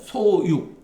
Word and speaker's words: 소육: 예 시중의 그 파는 소육 요거는 발음이 육으로 읽어야 돼요 소육 예 죽이 아니라 소육 시중에서 파는 바에 물로 물로서